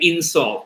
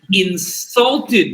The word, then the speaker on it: insult: Well, if it's a rule in English that if it's a 2-syllable word that's both a noun and a verb, when it's a noun, you pronounce the second syllable. When it's a verb, you pronounce the first syllable.